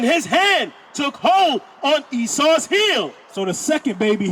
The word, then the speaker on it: Esau: That's spelled E-S-A-U. Esau.